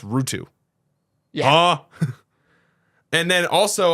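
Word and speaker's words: Räty: R A T Y last name is pronounced Rutu.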